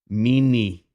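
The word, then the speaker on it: міни: They're spelt M-I-N-E. I know that looks like M-I-H backwards N, but it's M-I-N-E phonetically in English letters. Mini, that's how you pronounce it.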